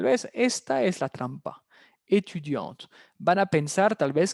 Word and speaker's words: étudiante: Si hubiera sido masculino, sin la E, sin el sonido de la T, il est étudiant.